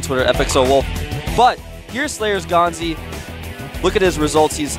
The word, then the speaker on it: GanZi: You can see him scratch his face there a little bit, but GanZI, and by the way, a lot of people on my Twitter were saying, why do you say GanZI instead of GanZI?